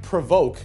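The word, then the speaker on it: Provoq: It's the Cadillac Provoke, which isn't spelled like it sounds.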